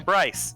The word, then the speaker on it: Bryce: I'm Bryce. I thought I said that. You didn't. Rhymes with nice.